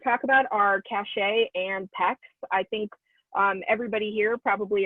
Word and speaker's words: PEX: The PEX cards, P-E-X is how you say that.